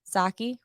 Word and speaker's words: Psaki: Almost immediately after Biden's comment on Wednesday about coming for Amazon, White House Press Secretary Jen Psaki, right?